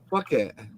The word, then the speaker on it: Phuket: If you say that properly, fuck it. It is, though, isn't it? PH is F, isn't it? Fuck it, yeah.